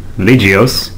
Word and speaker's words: Legioss: believe, a Greek word, Legios, which means soldier, and it also rhymes with Macross and Orgus.